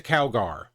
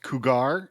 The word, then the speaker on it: cougar: What's a cowgar? I believe it's pronounced cougar.